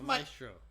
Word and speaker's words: maestro: over and over again maestro yes maestro it's maestro it's maestro it's the maestro his name's spanish for master yeah maestro what do you call a person who conducts an orchestra um a maestro a maestro in in